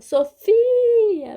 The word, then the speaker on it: Sofia: você para almoçar Fala Sofia vem almoçar então a sílaba forte do meu nome é fi Sofia né E aqui no